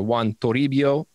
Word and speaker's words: Juan Toribio: jack of all trades want to rebuild or juan toribio nice nice yeah i had to nail the pronunciation for you man i mean i took